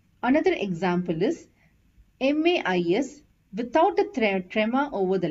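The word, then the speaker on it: maïs: this is pronounced as ma is because there is a trema over the letter I and a and I has to be pronounced separately hope you understood the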